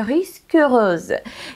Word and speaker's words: Risque Rose: между прочим, по-французски, друзья, поэтому я буду произносить название с французским прононсом, и она называется Risque Rose, и переводится это как